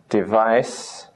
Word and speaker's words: device: Number 3, magic E again, same as this. Device, device.